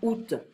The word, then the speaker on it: août: So we can sometimes have a collection of vowels, but we don't pronounce every individual vowel, you know. So here, August will be août.